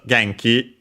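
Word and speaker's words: 元気: such an exception since Genki uh is actually uh a Chinese compound. Gen uh uh well by the way first and foremost on its own geni is accented on the first syllable.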